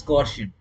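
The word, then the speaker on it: coercion: ठीक है ना इसको कुछ लोग कुछ कुछ बच्चे टीचर्स लोग कोशियन भी बोल देते हैं। ठीक है ना? Exact pronunciation is कोशियन। ठीक है ना? बट ये बहुत इंग्लिश नेचर का है और मेरा मुंह घूम जाता है। तो मैं इसको कोवर्जन बोलता हूं।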